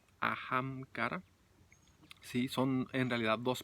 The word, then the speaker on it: Ahamkara: vale entonces a macará que significa ajam cara a cara se escribe con h ajam cara si son en realidad